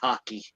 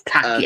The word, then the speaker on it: Take: Uh, and oddly enough, the little boy is called I know it says take, but I'm sure it's going to be pronounced Taki. So, it's Taki. I think it is Taki.